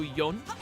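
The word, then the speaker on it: 四: Blessed for is pronounced she in Japanese which is also a word for death. Yeah. Don't they um don't they uh isn't for in Japanese also yon like y o n specifically?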